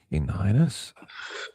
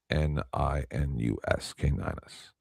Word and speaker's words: Caninus: I don't know how to spell it anymore. Caninus?